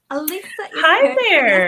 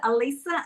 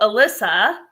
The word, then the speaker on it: Alisa: because yes very often so do you pronounce it Alisa as well with that's um Dana pronounces it correctly but none of my other us friends can pronounce it correctly I don't know why well only because we met in person in Mexico because I was calling you Alyssa yes yeah but my